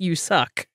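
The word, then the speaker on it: USUK: form a new country u.suk pronounced you suck it was not subtle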